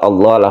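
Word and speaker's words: الله: izhar syafawi juga kemudian lafaz Allah lafzul jalala yang sebelumnya dah dibaca tebal Jadi kalau sebelumnya fathah dibaca tebal sebelumnya kasrah dibaca tipis sebelumnya dah dibaca tebal lafaz Allahnya itu kemudian di sini ada Al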